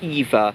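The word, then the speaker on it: Evia: Also, the worst affected area is a place called Eva, with just an I in between the V and A. It's a silent letter.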